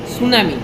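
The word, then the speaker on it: tsunami: উচ্চারণটা আমরা করি না সুনামি টি এস ইউ এন এ এম আই সুনামি বাট উচ্চারণের সময় কিন্তু সুনামির টি টা উচ্চ থাকে এক্ষেত্রেও সেম এক্ষেত্রেও কিন্তু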